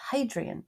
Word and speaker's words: Hadrian: building, the Temple of Hadrian. Do you pronounce the H? Yeah, you do.